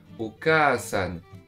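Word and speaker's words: お母さん: Je crois que dans les mangas, j'ai entendu que ça se prononçait Okasan. Ouais, et bah justement, c'est ça la voyelle longue. C'est ce A là qui est long.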